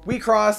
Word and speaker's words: WIXOSS: this trading card game we cross and that's how you say it it's actually a smash up of wish cross has officially